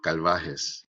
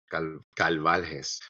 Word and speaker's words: Carvalho: I'm going to say it the Spanish way, but he's Brazilian, so he might say it totally different. It's Claudio Calvajes. Calvaljes.